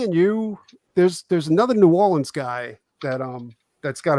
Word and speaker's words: New Orleans: i thought it was i thought it was nolan's and he was like no it's new orleans right up there it